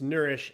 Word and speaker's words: Nurish: the site uh and it's spelled incorrectly by the way n-u-r-i-s-h dot me it's nourish n-u-r-i-s-h dot me so